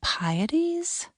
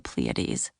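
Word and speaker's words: Pleiades: Aren't those the Pieties? The constellation was called the Pletes, but Hope got the name wrong on purpose, hoping for a snotty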